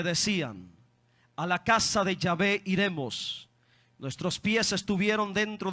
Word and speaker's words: Yahvé: De ahí viene el nombre, o por eso yo pronuncio Yahvé, que es el original hebreo de Dios, el Padre.